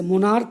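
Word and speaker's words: monarch: देखिए जैसे मोनार्क है, यानी ch को यहाँ हम लोग का पढ़ रहे हैं।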